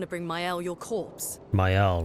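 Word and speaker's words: Maelle: Mael, right. That's how you pronounce it.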